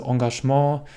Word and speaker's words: Engagement: Mein Tipp ist, übertreibe es also nicht mit der korrekten französischen Aussprache, sondern spreche sie ein bisschen gemischt deutsch-französisch aus. Also Engagement oder Balkon.